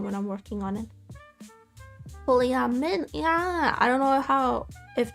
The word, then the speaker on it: polyamide: Polyamide, like mine but with a D.